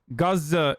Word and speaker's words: Gaza: the children that were killed were already yes gaza is the is the actual pronunciation but like i mean it doesn't matter